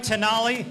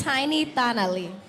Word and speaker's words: Tiny Tali: I say it right tanali no I'm sorry this is what I wanted to go say your name right for me it's tiny Tali ah okay and what's